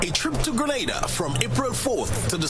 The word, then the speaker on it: Grenada: It's not Granada. It's Grenada.